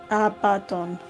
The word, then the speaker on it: Abaddon: Is it Abaddon? It's... let me try and type it out phonetically. Thank you. Abaddon.